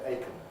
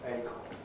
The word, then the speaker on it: acorn: an oak tree and it's pronounced with stress on a but we don't weaken it most of us can we don't say aiken maybe one or two bits unusual acorn similarly those who do